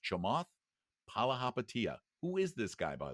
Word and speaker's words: Chamath Palihapitiya: Oh, you're talking about Chamath Palihapitiya.